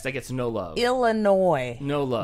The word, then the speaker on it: Illinois: Or is it Illinois? Don't say it like that. Illinois.